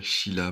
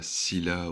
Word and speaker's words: Scylla: Et on dit bien Sheila, pas Scylla ou Scylla, on dit Sheila. SC en grec et en latin ça donne ch.